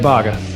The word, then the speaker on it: Baugues: say your name it's Bas and it's actually a a point of contention amongst even my family members so don't feel bad